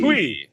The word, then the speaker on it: Twuee: How would you pronounce Twuee? Twee. Yeah. That's a like terrible Tweety way to Bird? spell twee, though. Isn't it like Tweety? Like That Tweety? U is unnecessary. It's Right. silent. It's silent.